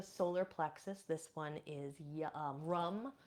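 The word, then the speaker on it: Ram: This one is Rum, spelled R-A-M, but we pronounce it Rum.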